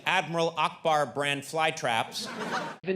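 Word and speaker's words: Ackbar: you are dead wrong the character's name is pronounced Akbar now maybe it was Akbar back in 1983 when the movie first came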